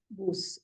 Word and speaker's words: Bus: Bus is Bus in German. Though the spelling is same, but the pronunciation will be Bus.